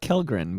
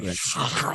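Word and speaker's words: Källgren: I want to call it Kellgren, but it's Kallgren. It's like Kallgren. The Swedish.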